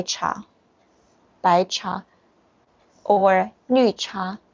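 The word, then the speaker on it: 茶: by cha or new cha cha yes tea is cha it's like the indian chai chai i thought something about chai chai i thought it is so similar uh espanol is a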